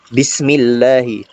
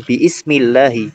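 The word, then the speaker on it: بسم الله: Makanya dia karena di tengah kalimat, nah, itu dibacanya bukan biismillahi, tetapi bismillahi. Bacanya bismillahi.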